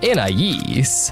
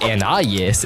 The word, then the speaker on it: Anais: according to the name's French origin, Anais, but it's occasionally pronounced according to the English phonics Anais instead, usually by Darwin and Granny JoJo in the earlier seasons.